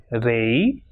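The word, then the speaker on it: rey: And when it comes at the end of a word or when it comes alone, it will pronounce as e, like rei, lei, guay, delante y detrás.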